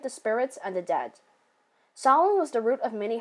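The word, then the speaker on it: Samhain: Halloween started with salwan that's how it's pronounced by the way an Irish Pagan Festival marking the end of summer and celebrated the spirits and the dead Salon was the root of many Halloween Traditions such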